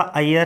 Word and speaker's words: अय्यर: अय्यर, pronunciation इसका अय्यर है।